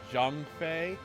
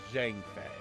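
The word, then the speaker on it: Zhang Fei: I knew him so if I pronounce things differently it's because of the game that I grew up with and it to me sounds better like they say Jang Fe I see it as Jen Fe and this is Liu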